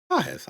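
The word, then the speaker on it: Pagés: Can't say his name right because we don't know how to pronounce it. I guess I could just... Well, I'm already on stat head. Let me get Andy Podges. Pajes? Pajes. I was right.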